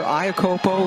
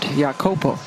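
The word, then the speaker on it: Iakopo: And yes, she has changed the pronunciation of her last name this year. Ayakopo is how we knew her in college, but she plays now for the Samoan national team and has gone back to the more traditional way of pronouncing her last name, which is what like a Y sound.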